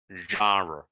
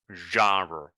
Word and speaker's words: genre: This word is actually French. It's not an English word, but they use it. English, it is used. The pronunciation is genre. Genre. Okay? Genre.